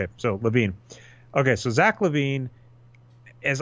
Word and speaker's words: LaVine: right by the way I went to basketball reference who does have pronunciation it is LaVine but there there is